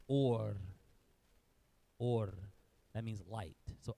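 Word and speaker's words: אור: that's the V but because it has this dot over it that's called a holum and because there's a holum the V isn't pronounced is actually a vowel but we haven't gotten a vows yet this is pronounced or or that means light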